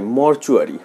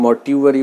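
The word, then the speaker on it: mortuary: 3 নম্বরে যে ওয়ার্ডটি রয়েছে সেটা হচ্ছে মরচুয়ারি। মরচুয়ারি, এটাকে অনেকে মর্টিউয়ারি বলে, এটা সঠিক উচ্চারণ মরচুয়ারি।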